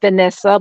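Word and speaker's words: Venessa: It's VE instead of VA. So, you know, it's pronounced Vanessa, but it's still the same thing.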